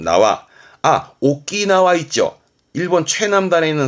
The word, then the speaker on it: 縄: 발음은 나와.